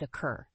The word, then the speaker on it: occur: The fourth word is occur. The word occur has two syllables, with the stress on the second syllable.